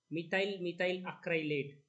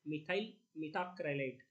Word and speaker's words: methyl methacrylate: So I have seen students from engineering background are pronouncing it as methyl acrylate. So that is not the correct way. Correct nomenclature. The answer is methyl methacrylate.